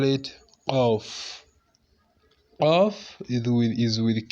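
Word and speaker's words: قاف: We call it Off. Off is with Q. Off. Something like that. So this off, we're just going to make the inner part of your throat pronounce it off.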